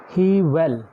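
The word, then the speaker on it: Whewell: था आपके पास विलियम्स हीवेल, यहाँ पर डब्ल्यू साइलेंट है।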